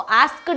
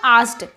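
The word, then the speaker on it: asked: इसको आस्क्ड नहीं बोलते हैं, के को आप साइलेंट रख सकते हो यहाँ पर। सो आस्क्ड, शी आस्क्ड, सारा आस्क्ड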